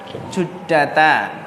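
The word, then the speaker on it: جدة: Jadi Jeddah itu bacanya apa? Juddata.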